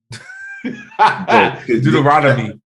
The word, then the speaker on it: Deuteronomy: person all right anyway what is it called Deuteronomy is that how you say it Deuteronomy there you go I let you know all